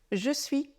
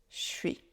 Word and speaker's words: je suis: déjà entendu et remarquz c'est donc un son qui est un peu difficile à déchiffrer je suis je suis quand vous révisez votre